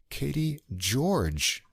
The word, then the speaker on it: Caity Gyorgy: This is the Canadian vocalist, Katie George. Now, she spells her name Caity Gyorgy, but it's pronounced George, as we'll find out for sure as we go on.